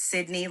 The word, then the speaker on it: Sydney: Our name is Sydney, like the city in Australia, Okay.